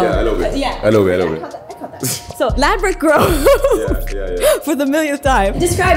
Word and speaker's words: Ladbroke Grove: Ladbroke Grove. Yes. And Ladbroke Grove, why are you laughing? No, go ahead. You said it right. Ladbroke Grove, yes.